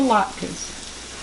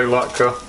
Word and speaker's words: latke: A potato latkes. Latkes. Is that how you say it? Latkes? Some say potato, some say potato, some say latke, some say latka.